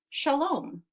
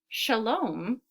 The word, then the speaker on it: shalom: So one of the ways they say hello is shalom. So in the word shalom, shalom, I hear two syllables.